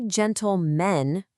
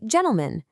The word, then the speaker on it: gentlemen: We don't say gentlemen, right? We say gentlemen.